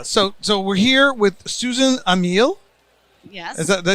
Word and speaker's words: Ameel: Yeah, so we're here with Susan Ameel. Yes. Did I say that right? Ameel. Ameel.